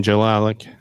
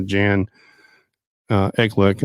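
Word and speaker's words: Jekielek: the host is uh ian jalalik i'm sorry i said his name wrong uh jan uh eclick uh who is the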